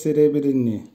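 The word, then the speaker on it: серебряный: সেরেব্রিনি, সেরেব্রিনির অর্থ হবে রূপা বা সিলভার কালার, উচ্চারণ হবে সেরেব্রিনি, সেরেব্রিনি।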